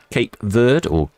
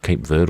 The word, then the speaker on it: Cape Verde: tip of South Africa, Cape Verde or Cape Verde or Cabo Verde, depending on what level of pronunciation you care to choose.